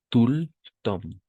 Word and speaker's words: tout le temps: Tout le temps. Tout le temps. Ahí, igual, imperceptible la T. Tout le temps. Así. D'accord, tout le temps. Así, si tendría que escribirlo, como, como pronunciar, así sería. Tout le temps.